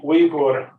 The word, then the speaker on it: Uyghur: I've been asked to use the pronunciation Uyghur instead of Uyghur, which is more common in English. I'll be saying Uyghur throughout the presentation.